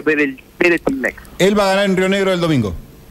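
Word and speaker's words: Weretilneck: Breltinleck, el que era el antiguo gobernador de la fuerza Juntos Somos Río Negro. ¿Cómo es el apellido? Es Weretilnec, es con W. Weretilnec, sí, pero se pronuncia Weretilnec.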